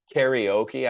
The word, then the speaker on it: karaoke: You might give more presence to the vowels, but karaoke is how we say it in English.